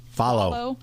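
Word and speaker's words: Fahlo: called is it follow? but it's not spelled like that. It's f a h l and you can buy bracelets and each one um supposedly tracks an endangered animal.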